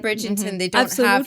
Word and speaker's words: Bridgerton: Bridgerton.